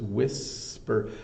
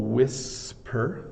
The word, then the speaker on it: whisper: with this is the the H here has no business being there it's wi wh so there's no sound made by this age so it's whisper and they were having